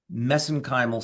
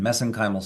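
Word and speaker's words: mesenchymal: Uh that's how they pronounce it over in Ireland. We pronounce it differently here in the in the US but I use the Irish pronunciation messenymal stem cells.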